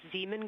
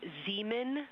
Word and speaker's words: Zeeman: Integrity Science, we believe that's Zeeman Crater. Oh, I floated away from the speaker. Say it again, please. We believe that that is Zeeman Crater.